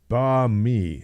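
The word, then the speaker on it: bánh mì: But to be clear, it's pronounced banh mi sandwich.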